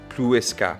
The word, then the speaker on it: Plouescat: This is how it's supposed to be pronounced. Plouescat.